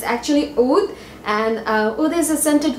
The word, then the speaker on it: Oud: It's, I think, a little bit more deeper than that, and people have been getting the name wrong too. It's actually Oud, and Oud is a scented wood in Arab,